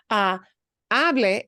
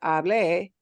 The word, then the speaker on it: hable: If you pronounce that verb as hable, you will really confuse people because hable means I spoke.